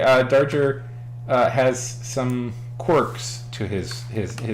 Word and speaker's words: Darger: Another guy they talk about a lot is is a guy named Henry Darger. I think that's how you say Darger. Not danger.